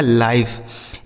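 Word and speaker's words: life: किसी शब्द के लास्ट में अगर इ लिखा हो तो इ का उच्चारण नहीं करना है।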